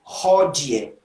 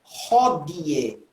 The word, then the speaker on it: hodie: Porque vai dizer hodie, hodie, o di. E teria que ser na restaurada hodie, hodie, com o D dental, não di.